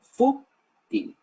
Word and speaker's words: fútil: palabra superficial de poca importancia ahora se dice fu ting por lo tanto le hacen toca el agua